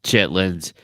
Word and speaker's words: chitterlings: right south carolina chitterlings chitterlings that's not chitlins it's chitterlings it is chitlins chitterlings is the proper queen's english way of saying chitlins is it i i